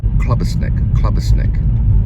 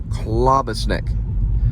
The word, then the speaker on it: klobasnek: Klobasnek, K-L-O-B-A-S-N-E-K, Klobasnek, la pa ta ra ta, Klobasnek, Kalachi, Klobasnek, Kalash, Klobasnek.